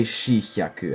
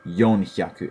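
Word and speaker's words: 四百: a lot uh yeah also for 400 you don't say shihaku at least i've never heard it i would definitely stick to yonhyaku it sounds nicer anyway but for everything else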